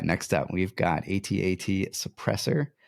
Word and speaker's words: AT-AT: blue villain it's an 88 Imperial vehicle Walker and when played exhaust all ground units I think you said it wrong it's at at oh is that so